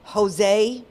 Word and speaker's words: Josue: The first one is 20-year-old Jose, but it's spelled Josue.